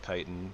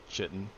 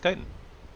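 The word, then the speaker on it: Chitin: I learned at some point that it was pronounced kiten, not like Chitten. Pretty sure I used to call it Chitten and then I learned that it was pronounced Kitan.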